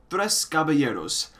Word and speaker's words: Tres Caballeros: But truth be told, I'm really only in love with the third record, Tres Caballeros. Thank you, Leonardo Cruz, for confirming that pronunciation, by the way.